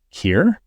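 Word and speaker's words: Keir: and his name being cure is so funny it's k e i r I think Kure yeah then it's such a subtle pronunciation difference I would never have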